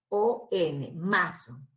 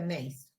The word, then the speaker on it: Mason: sumador, se aplica la regla de Mason, que se escribe M-A-S-A-O-N, Mason.